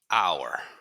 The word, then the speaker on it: hour: let's look at this people say well H is not a vowel why do you say an hour great question well here if you look at the phonetics phonetically it's our okay typically you say